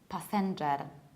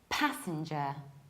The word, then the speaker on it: passenger: So what I usually hear is passenger. Passenger. So people stress the second syllable sen, and they say sen like sen noceletni, whereas we have to say passenger. Passenger. So what happens? I stress the very first syllable, pa, and then I reduce sin. Passenger. I also reduce the last syllable.